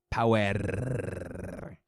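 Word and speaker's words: Powerrr: insane you got NWA power debuting that I've wondered I've been I've been saying it wrong it's okay you got it you gotta roll the are it's uh it's required power and then you got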